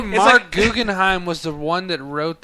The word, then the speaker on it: Guggenheim: I pronounced the name correctly. Yeah, you did. Guggenheim.